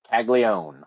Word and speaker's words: Caglione: It's like Michael Corleone, Jack Caglione.